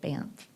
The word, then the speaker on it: Banff: Directors, I'm just here on behalf of Banff Homes, and that's how you say it, David, Banff.